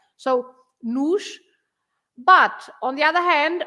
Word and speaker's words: nos: and so you pronounce the O at the end is always pronounced like U, and in this case is the plural, it takes an S, so you just say another S, nos, the sh at the